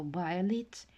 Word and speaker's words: violet: І звертаю вашу увагу на прочитання слова violet. I all читається в is little.